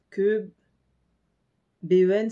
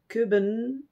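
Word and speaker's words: København: de toute cette série déjà le ha barré ça se prononce e donc là ce serait que que ben ça va être kben queben et le H a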